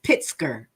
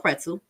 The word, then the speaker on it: Pritzker: Wilbur and Sonya Massey's mother, Donna Massey, met with Illinois Governor Pritzker, because it's Pritzker. Is it Pritzker? Pritzker, but I call it Pretzel.